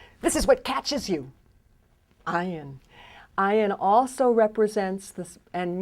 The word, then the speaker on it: Ayin: But the silent letter "Ayin" is a silent letter that comes from your throat. It's a guttural silent letter. It catches. So if I were to say for example "Aleph". It's "Aleph". If I were to say "Ayin". It's "Ayin". "Ayin". Comes from deep.